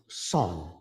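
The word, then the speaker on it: Seon: shortened to Chong uh in Korea it's pronounced son so it's uh it's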